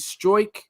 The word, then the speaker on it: Struijk: How do you pronounce this? Is it Struijk? Is that right, Tom? Struijk, yeah.